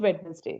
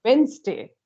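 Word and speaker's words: Wednesday: The word is वेडनेसडे बट द yes, pronunciation is नॉट वेडनेसडे, the pronunciation yes, इज वेंसडे.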